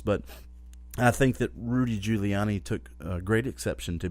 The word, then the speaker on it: Giuliani: anyway the mayor mayor Rudy juliani uh Rudy Giuliani let me get that name pronounced right who by the way Rudy Giuliani